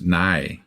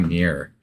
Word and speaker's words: nigh: I was going to say, you said it wrong the first time. It's nigh. You know, not near. Yeah. Got to say nigh.